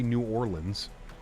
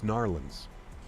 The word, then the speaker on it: New Orleans: say it you can't say New Orleans that's not it's not it's gnarlins you speak to any anybody narlins same as Louisville you have to say it like that well Louisville Louisville you cannot